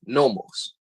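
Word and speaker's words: νόμος: Hebrew law is Torah but in Greek is pronounced nomos everybody understand Khan Khan Khan the word origin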